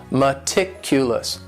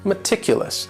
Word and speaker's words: meticulous: word is meticulous and this word has four syllables and the stress is on that second syllable meticulous meticulous that first syllable also has that schwa that a sound that reduced Val sound meticulous this is another